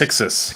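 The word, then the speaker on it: Pyxis: pronounced? Pixis. Pixis.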